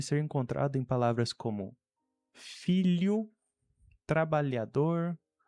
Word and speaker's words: filho: Esse li da palavra million é muito próximo, senão praticamente o mesmo do que nós temos na palavra filho em português.